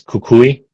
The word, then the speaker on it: Cucuy: I just say it's like it's spelled how it is. It's Koulei. Kakui.